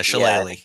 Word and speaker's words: shillelagh: well, Shaliga, or however that's pronounced. Shillelagh? Yeah, Shillelagh.